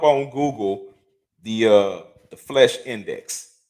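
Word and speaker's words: Flesch: uh look up on google the uh the flesh index f l e s c h i believe is spelled not flesh like flesh and blood but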